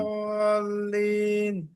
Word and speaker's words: الضالين: গায়রিল মাগদুবি আলাইহিম ওয়ালাদ-দাল্লিন ولا الضالين، ضاد তার একটু উচ্চারণ করতে হবে।